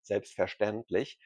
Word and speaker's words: selbstverständlich: German word for certainly, selbstverständlich, to explain it very shortly. In many German words, when the letter S is followed by a T, the S is actually pronounced like sh.